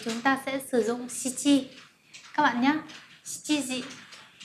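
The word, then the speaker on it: 七: Vậy thì để nói giờ của số 7 thì chúng ta sẽ sử dụng Shichi các bạn nhé. Shichi gì? Và số 9 chúng ta sẽ đọc là Kuji.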